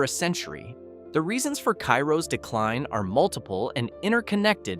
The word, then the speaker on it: Cairo: Cairo, pronounced Cairo locally, not like the Egyptian city, and locals will correct